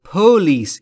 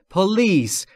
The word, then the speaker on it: police: دقت بکنید دوستان، تلفظ پلیس استرس روی ال و روی پی نیست. یعنی نباید بگید پلیس، این اشتباهه. پلیس اینطوری درسته. در واقع استرس روی ال روی بخش دوم.